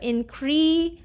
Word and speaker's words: increase: the long vowel e so increase z s is saying the z sound here so you need to